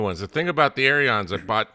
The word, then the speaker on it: Aeron: I would like to point out that John Preto cannot be an Aeron fan because he doesn't know how to pronounce it. It's Aeron. To get off.